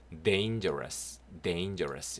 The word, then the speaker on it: dangerous: 예, dane입니다. 요 a가 에이 발음 납니다. dane. 단 아니고요. dane. 그다음 jer. 요도 g가 약간 저 발음 나요. 거가 아니고. 그래서 G는 기역 발음 아니면 약간 저 요런 발음 나죠? 그래서 danger rus 됩니다. rus R-O-U-S. rus. rose 아닙니다. 네, rus. dangerous 이렇게 돼요.